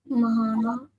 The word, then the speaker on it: Mahana: Mahana. Mahana. Well done. Right. So, you pronounce the ma fully. So, ma, you pronounce the ha and then the na and the ha are connected.